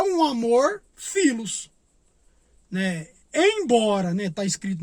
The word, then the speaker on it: philos: O amor filos, né, que é escrito com pH, mas pronunciado filos, é um amor no sentido de amor fraterno.